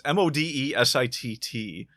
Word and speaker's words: Modesitt: I don't know how to pronounce his name. It's Modesitt.